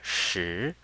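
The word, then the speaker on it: 十: It's written like this, and we pronounce it with the second tone. Shi, shi.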